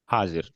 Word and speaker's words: हाजिर: మీ meeting కి మామూలు సంబంధిत సభి ఆ, పవన్ గారు एक बार ఓకే యాక్చువల్గా హాజర్ కదండి మామూలు హిందీలో అయితే హాజీర్ అంటారు హాజీర్ हाजिर.